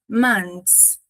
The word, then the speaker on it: months: Na pronúncia americana aqui, esse th não aparece. Mons é meio difícil de pronunciar. E a gente é mais comum a gente ver months. Monts.